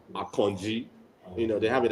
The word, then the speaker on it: Akanji: last couple of games you know and then a kanji so I a lot of people I don't